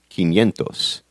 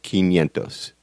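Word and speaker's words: quinientos: a little different 500 is irregular and it's pronounced kentos but look you guys nobody's going to punch you in the mouth for saying Cinco Centos instead of kentos trust me on this one so you can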